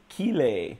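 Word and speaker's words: Chili: Superbike Championship motorcycle racer pierfrancesco Chile pronounced pierfrancesco keel a there you go keel a thank you all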